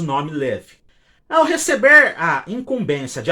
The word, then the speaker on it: LEW: que essas locomotivas seriam construídas pelo tradicional fabricante Liv. A Liv, cuja pronúncia correta é Lev, e cujo significado vai estar aparecendo aqui na